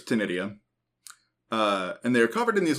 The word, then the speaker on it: ctenidia: These are very highly modified gills that are technically called ctenidia, I think is how you pronounce that. It's got a C at the front, which is throwing me off. Yeah. But I'm pretty sure it's ctenidia.